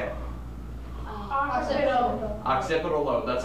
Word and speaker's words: occipital: Occipital lobe, that's how you pronounce it.